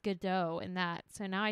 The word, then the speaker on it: Godot: I always said Godot, but then I read a play that had the same name and it's pronounced Godot in that. So now I don't know if it's Godot or Godot. It's Godot.